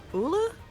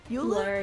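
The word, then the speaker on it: Ullr: Ula? Euler? Yeah, I don't know exactly how it's pronounced. It's like ruler, but without the R. Yes. So we only have Uller for reference.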